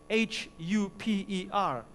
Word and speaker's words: huper: The first word in the Greek is spelled H-U-P-E-R, huper, which means over.